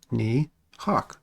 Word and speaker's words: Nihak: last name is nihak it's pronounced knee hawk just like this picture